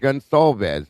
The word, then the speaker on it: Gonsalves: I used to call him that, and I got told for the other reason because it's actually pronounced Gonsalves, even though the C's wrong.